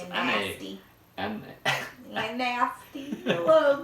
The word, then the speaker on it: NAS: However you pronounce it, it's You're nasty. N-A. You're nasty. The little nasty thing is gonna help us because you're so nasty. Nasty. That's how you say it, NAS.